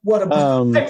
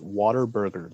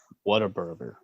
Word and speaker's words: Whataburger: So, Whataburger. I pronounced that really weird. You know what? I pronounced it real. I pronounced I called it Waterburger the other day when I was talking to someone.